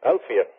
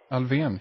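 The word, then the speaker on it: Alfvén: who I said Sigford, how do you pronounce this fellow's last name? It's a LF V E accent N. Uh and Sigford said, "Well, that's Alfian." Alvian.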